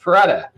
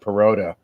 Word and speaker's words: Perotta: i'm doing great and thank you for pronouncing my name correctly because i cannot tell you how many times i've heard perrota all my life i thank you for